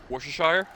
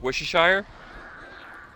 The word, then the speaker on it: Worcestershire: that one source that no American can actually pronounce Worcestershire that's the one that's not how you say it uh how do you pronounce it Worcestershire nope how do you pronounce it Worcestershire Worcestershire